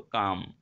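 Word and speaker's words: calm: থাকা, ওটাকে আমরা বলি কাম। এখানে এলটা উজ্জ্ব থাকে, ঠিক আছে, উচ্চারণটা এরকম হয় শুধু কাম, ঠিক আছে।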